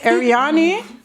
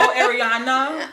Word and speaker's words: Arianni: As long as there's no Arianna, we good.